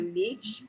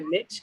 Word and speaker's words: niche: um we're definitely like a niche or a niche I'm sorry it depends on how you say it in our community and